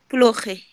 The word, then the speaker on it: плохой: Плохой. Плохой. Плохой. Плохой, не забывайте ударение вот здесь, плохой.